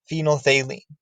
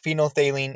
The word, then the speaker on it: phenolphthalein: our titration simulation, is phenolphthalein. All right, and that's one of those words that sounds nothing like it's spelled. Phenolphthalein is an acid-base indicator